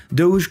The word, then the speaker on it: Doge: under the title of Doge with an E at the end, turning the short O sound to a long O sound in English. Doge combined conventional cuteness with the mild trepidation towards the human hand approaching her.